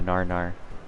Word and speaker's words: gnar: where you see the Gnar password is Narnia the G silent G really blump's only ever seen